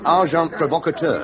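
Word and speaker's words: agent provocateur: And an agent provocator. S. Amazing. Packar. The pronunciation however is arjant provocator.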